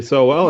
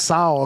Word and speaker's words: Sowell: I think that the issue with Bradley Sowell, and I think it's pronounced Sowell according to Adam Hogue and Adam Johns.